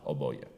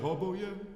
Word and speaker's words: oboje: Oczywiście musimy uważać, żeby nie podkreślić wyrazu oboje, prawda? I to jeszcze na pierwszą sylabę, która w języku polskim nie jest akcentowana, bo wyjdzie nam to bardzo z czeska będzie to brzmiało.